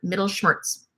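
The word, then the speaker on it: Mittelschmerz: seal the middle shirts it's like a German word middle shirts you say it like that middle shirts means pain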